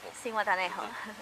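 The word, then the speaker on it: Zihuatanejo: How do you pronounce the name of the? C.U.B.A. Cihuatanejo.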